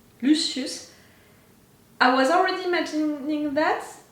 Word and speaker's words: Lucius: anymore but as Lucius I think that he pronounced it luus but clearly Lucius I was already imagining